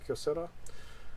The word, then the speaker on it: Kyocera: Is that how you pronounce it, Kyocera?